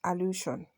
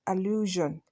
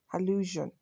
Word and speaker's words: allusion: it it is pronounced illusion illusion if you're familiar with the sounds of the English language you would know the sound I'm pronouncing there J it is the sound in television conclusion and decision do you understand so